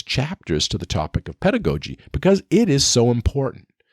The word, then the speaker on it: pedagogy: So pedagogy, or pedagogy, depending on how you want to pronounce it, I pronounce it pedagogy.